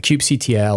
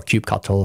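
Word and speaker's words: kubectl: variables in your environment the cube CTL or cube cattle however you want to pronounce it and K9s which is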